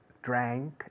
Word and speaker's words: drank: Ahora, la pronunciación internacional inglesa correcta es drank in the bank. Drank, ank. Pero los españoles no lo decís bien normalmente, o casi nunca.